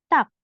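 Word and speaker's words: 닭: Di sini dibacanya bukan dark atau dark, bukan, tapi tak. Tak. Digetnya ini antara huruf D atau T ya pelafalannya, jadi tak.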